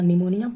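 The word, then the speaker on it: pneumonia: और आईपीसी से याद रखना है इन्फ्लुएंजा, पी से याद रखना निमोनिया, पी साइलेंट रहता है, ठीक है, पी साइलेंट रहता है तो निमोनिया।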